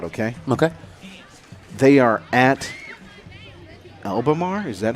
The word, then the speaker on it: Albemarle: They are at Albemarle. Is that how you say that? Albemarle, yep.